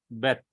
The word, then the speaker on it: Bet: When there is a dot, it is called clear Beth. The sound is hard. And it gives a B sound in bat. B sound in bat. As we say Beth.